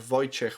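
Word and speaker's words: Wojciech: So you have Voyche which is formal and Voytech which is informal but not necessarily the short. But since what people struggle with with my name is how to pronounce J and how to pronounce W by shortening the other part and just giving.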